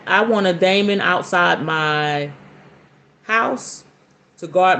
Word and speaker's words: daemon: She says she loves working with the daemons. Am I saying that right? Yes, I know. That's the proper way to say it. We we will talk demon, but it's daemon.